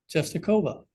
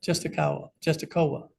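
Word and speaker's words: Częstochowa: Czestochowa. Like you say, Jehovah. Yeah, Czestochowa. So supposedly, tradition holds that St.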